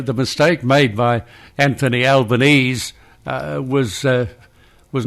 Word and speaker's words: Albanese: in regards to Anthony uh he's his correct pronunciation is there Al benazi Albanese Albanese yes correct thank you for the assistance it's going to be difficult to get out of the habit of saying Anthony Albanese because it's what everybody says it's called common